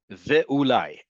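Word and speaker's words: וְאוּלַי: In front of most letters, the vowel underneath this letter is silent. Ve- ve-ulai, and maybe.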